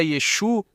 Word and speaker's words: Yeshu: É verdade que se você pronunciar a letra Aim no final, deveria ser dito assim mesmo. Mas se você fosse um Galileu vivendo no bairro de Yeshua, crescendo com ele desde criança, você diria Yesu? Porque era assim que os galus falavam? Eles não pronunciavam a letra Aim, eles não a diziam. Então, na pronúncia Galileia não se falava assim.